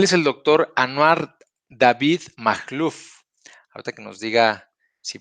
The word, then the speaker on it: Majluf: Y pues bueno, sí, sí está bien pronunciado mi apellido, Makhlouf, así es como lo pronunciaste.